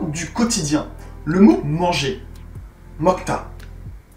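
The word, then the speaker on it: 먹다: Mokta. Mok-da. Mais lorsqu'on le prononce, mokta.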